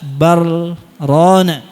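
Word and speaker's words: بَلْ رَانَ: Riwayat Hafs an Asim tariq Imam Syatibi baca dengan izhar dengan saktah. Kalla bal rana. Riwayat yang lain, ada yang baca idgham. Kalla bal rana. Nah, tapi kita bacanya izhar disaktah disertai dengan jeda sebentar. Berhenti sebentar tanpa mengambil napas.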